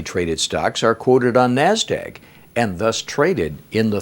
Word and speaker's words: NASDAQ: Now abbreviated, that's NASDAQ, and pronounced just like it's spelled, NASDAQ, or the OTC market.